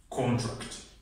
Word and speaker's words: contract: the third one contract contract she signed a new contract here the syllabus and the stress is on the first syllable or contract she signed